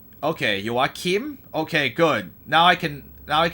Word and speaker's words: Joachim: Joachim. Kim. Okay, so it's a shorter I instead of a longer I.